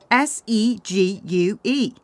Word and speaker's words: segue: See, spell it. S E G U E.